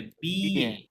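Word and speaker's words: billet: এ হয় না, আপনার লিখে দিয়েছিলাম, মাঝখানে ডাবল এল সাইলেন্ট, তাহলে কি হবে? বিএ, বিএ, right?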